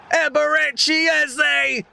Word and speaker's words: Eberechi Eze: Eberechi Eze. We put respect on his name and we pronounce it correctly when he scores.